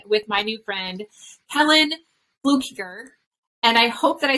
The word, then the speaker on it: Fluckiger: amazing enlightening conversation with my new friend Kellen Fluker and I hope that I said that correctly because I people get my name wrong all the time so flukiger yes that was perfect yay all right so